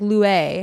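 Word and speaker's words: Luai: you pronounce that yeah it's like Louie Louie Louie and they live in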